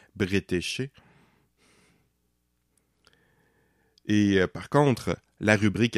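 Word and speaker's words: Bretécher: britchard jusqu'à présent d'ailleurs je prononce probablement très mal son nom il me semble qu'ulement on le prononce britché et par contre la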